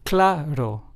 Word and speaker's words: claro: Claro, which means clear in Spanish, is pronounced as claro.